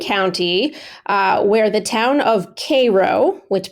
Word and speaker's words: Cairo: All right, let's move on down to Greene County, where the town of Cairo, which pronounced Cairo but spelled like Cairo, Egypt.